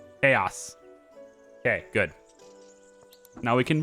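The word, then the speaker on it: Khayos: we're gonna change you to chaos but it's spelled k-h-a-y-o-s chaos okay good now we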